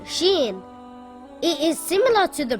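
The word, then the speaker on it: شين: three dots on top sheen is a light letter and should not be pronounced heavy sheen makes a similar sound to the sh in the word show or the word shoe this is what sheen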